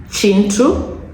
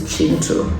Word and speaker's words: Kintu: So the second book is Chintu. So spelled Kintu, but apparently the Ugandans pronounce this as Chi. So this is Chintu.